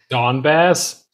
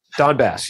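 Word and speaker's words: Donbas: it's pronounced other than it's close to dumbass that region of uh ukraine dawn bass don bass yeah how hard is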